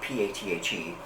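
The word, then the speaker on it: Pathé: This was released by, and I hope I say this right, Pathe, but it's spelled P-A-T-H-E, the little thingy over the E, and I think it's pronounced Pathe.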